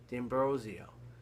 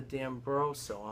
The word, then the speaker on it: D'Ambrosio: I don't get it my last name d'ambrosio it's spelled D apostrophe capital a m b r o s i o it's spelled exactly the way it sounds I don't get it how do people not know how to say it it's like I have I every place I go every person I deal with oh Mr dambroso I'm at the dentist